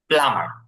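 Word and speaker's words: plumber: উচ্চারণ আসবে না হ্যা বিটা উচ্চারণ আসবে না এখানে টিটা উচ্চারণ আসবে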